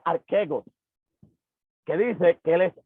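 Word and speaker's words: ἀρχηγός: Y aquí utilizaremos un verbo griego que se pronuncia archegos, que dice que él es el proveedor.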